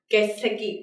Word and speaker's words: 欠席: Còn trái nghĩa với có mặt, vắng mặt thì mình sẽ có đây là 欠席, đúng không?